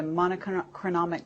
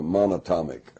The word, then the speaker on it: monatomic: know the the the monochromic gold monotonic how do you say it the um it's the single atom gold uh monatomic monatomic gold orbitally rearranged monatomic gold